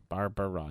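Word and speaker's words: Barbra: there's barara which is it seems like it's spelled wrong b a r b r a Barella bar bar Barbara yes uh we have dick Sergent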